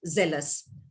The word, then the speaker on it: zealous: and wry so you have that array and z-e-a-l is zeal but when it comes to the adjective it becomes zealous but for that all the other words most difficult ones were also rightly pronounced by you thank you very much for